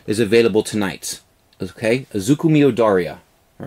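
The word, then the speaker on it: Izuku Midoriya: So I'm going to pronounce his name properly.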